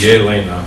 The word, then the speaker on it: Elena: accurate, clearly she and Elena, pronounced Yelena, were clearly separated at